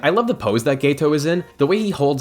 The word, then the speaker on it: Geto: And yes I said Geto, not geh-to, Geto, that’s how it’s pronounced.